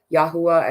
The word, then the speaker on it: Yahuwah: lot of individuals though what I've just been told is is yahuwah and yahushua is the pronunciation though I really feel